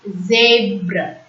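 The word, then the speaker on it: zèbre: E comes with accent aigu, so it's zebra.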